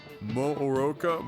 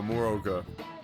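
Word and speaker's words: Morooka: I thought the two O's were pronounced for some reason. Mooroka. No, Moroka.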